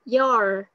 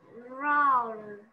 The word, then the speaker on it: your: Roar. Không phải. Con đang cong lưỡi ở đầu đấy. Cô có đọc là raw không? Cô đọc là your.